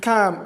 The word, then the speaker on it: calm: Let us let us use CAM for instance C A L M in CAM. Okay, check the transcription. I the transcription L is omitted and is not written in our symbol when we transcri when we transcribe.